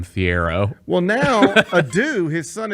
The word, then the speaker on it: Thiero: was the beat writer, it was Almami Chero. That's how we were told to pronounce it. Almami Chero. But every one of us rednecks in Memphis just called him Thiero.